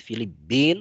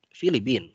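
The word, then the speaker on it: فلبين: Jadi boleh dibaca pakai tasydid, Filipin boleh. Boleh juga dibaca tanpa tasydid, Filipin.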